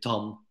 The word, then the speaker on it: Ton: My name is Ton. When I'm in a foreign country, I always say Tom because that's more easy to pronounce, but it's with an N.